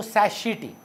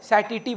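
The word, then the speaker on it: satiety: इस पॉइंट का नाम है पॉइंट ऑफ सटाइटी, और अगर आप बहुत बड़े अंग्रेज हैं ना तो सैशिटी। मतलब कुछ बच्चा लोग का अंग्रेजी बहुत अच्छा होता है तो लोग को लगता है ये सैशिटी प्रोनाउंस होता है। हम तो गूगल में चेक कर चुके हैं, सैटिटी बोलते हैं।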